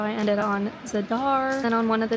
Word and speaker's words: Zadar: this is future Haley and yes it's actually pronounced zadar for some reason since I was in the